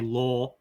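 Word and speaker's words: lore: part of UFO law I'll say in Australian English would say law and it sounds exactly the way we'd pronounce l a but I'm saying l r e yes la la um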